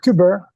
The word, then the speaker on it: Quebert: truth about the Harry, is it Quebert affair? Quebert, both are fine.